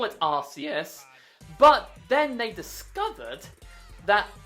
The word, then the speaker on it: Arceus: Because if you pronounce it the way I hope you don't pronounce it, I'm going to scream. This Pokemon is called Arceus. It's been like that from Gen 4 to current. It's not called Arceus.